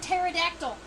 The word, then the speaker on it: pterodactyl: a uh means wings that's why you have the silent p in the word pterodactyl by the way and